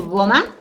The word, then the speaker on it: goma: ¿Lleva acento goma? No. No, pero es palabra grave. Goma. Lleva acento, la fuerza de voz en la penúltima sílaba.